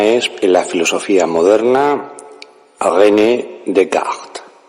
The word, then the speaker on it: Descartes: la filosofía moderna avn de cart más conocido en español como descartes pero no utilizaremos la vieja pronunciación sino la pronunciación francesa bien sobre este pensador